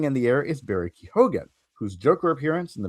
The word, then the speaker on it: Keoghan: For it to pronounce it nothing like it looks like it's spelled. That is a very Irish thing.